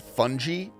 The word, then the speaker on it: fungi: That's actually pronounced fungi. Like if you listen to a scientist say it, they say fungi.